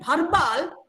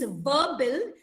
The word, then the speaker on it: verbal: But then I rectified him, telling that it is verbal. You pronounce where the upper teeth touches the lower lip. This is the way you pronounce the word verbal, and it is no longer bharbal.